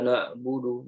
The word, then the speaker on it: na'budu: Aiman Nusriswet menyampaikan bahwasanya kesalahan yang pertama adalah kita membacanya dengan suara yang tidak jelas ya sehingga mirip dengan huruf alif yang dibaca tebal. Ya, contohnya na budu, na budu. Iyyaka na'budu, na'budu. Ya harusnya na'budu, na. Ya, tapi kita bacanya na'budu, na. Ya, jadi kayak alif lah intinya. Ini kesalahannya. Yang pertama, ya suaranya tidak jelas sehingga mirip dengan alif.